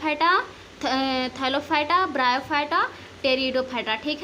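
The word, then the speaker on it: Pteridophyta: हम लोग गैलप हटा थल फाइट आफ ब्रायोफाइटा टेरिडोफाइटा ठीक है कि टो गिव स्पेसस इन प्रकार का होता है जिसको हम लोग गैर थैलोफाइटा ब्रायोफाइटा टेरिडोफाइटा करते हैं यहां पर तेरी खट्टा होता है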